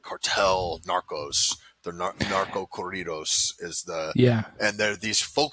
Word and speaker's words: corridos: You said the stuff, the corridos. Is that, how do you say that? Corridos. Corridos. yeah. You got to roll your R.